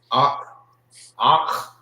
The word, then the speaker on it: Akh: Some people say it so fast you will not hear like the pronunciation that the you hear Akh. Sound like you're saying it with a K, the K-A, Akh. But it's Akh.